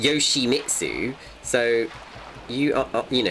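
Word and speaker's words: Yoshimitsu: sake Yoshi trunks well it's pronounced Yoshi mitsu so you are you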